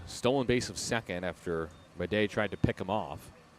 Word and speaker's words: Madej: Madej is spelled M-A-D-E-J. And Bleday is B-L-E-D-A-Y. So they're all spelled differently. Homophones, though.